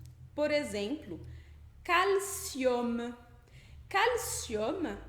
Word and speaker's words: calcium: Por exemplo, calcium. Calcium é cálcio. Aí esse UM do final, calcium, a gente vai ler com esse som de OM. OM. Calcium.